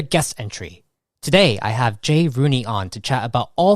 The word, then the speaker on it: Jay Rooney: general and to share what they are creating Jay Rooney that's how you're pronouncing your name correct that is correct thank